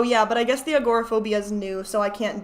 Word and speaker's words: agoraphobia: just bsing about the agoraphobia why didn't you guys call me out for calling it agrophobia nobody said anything I